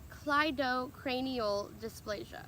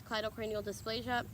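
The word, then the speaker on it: cleidocranial dysplasia: the CCD kind of cranial dysplasia it is pronounced Clyde Oh cranial dysplasia or it can also be Claro cranial dis ptosis but the more popular way that people say is colloidal cranial dysplasia I think there's another word out there after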